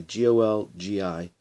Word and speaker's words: Golgi: or the Golgi complex spelt goal guy gol GI pronounced Golgi most of the protein